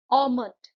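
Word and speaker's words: almond: ऑमंड, इसमें L silent है.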